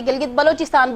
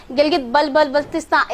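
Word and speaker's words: Gilgit-Baltistan: बहुत से लोगों को यहाँ पर इवन सही से प्रोनाउंसिएशन भी नहीं आती, गिलगित बलोचिस्तान बोल देते हैं, गिलगित बल्तिस्तान, इस तरह से भी जो है ना वो बोले जाते हैं यहाँ पर।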